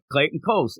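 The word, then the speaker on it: Clayton Cowles: Yeah, no, I'm telling you, it's spelt like how they say phonetically, it's the store Coles, so I'm going with it. It ends up Clayton Coles.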